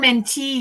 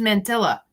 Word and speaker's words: mantilla: there are the little oh am i saying it wrong mentee yeah i thought it was mantilla oh no there is a double l does make the e sound see forget in high